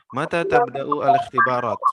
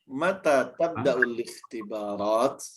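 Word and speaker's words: متى تبدأ الاختبارات: Mata tabda'u al-ikhtibarat. Ma makna hadhihi? Mata Bacanya bisa lebih tepat al-ikhtibarat. Mata tabda'ul ikhtibarat. Hamzah wasal.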